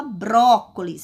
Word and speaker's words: brócolis: Veja bem, ao pronunciar a palavra brócolis, ó, brócolis, brócolis, qual a sílaba mais forte, mais intensa? Qual a sílaba tônica desta palavra? Bró, porque eu falo com mais força, com mais intensidade.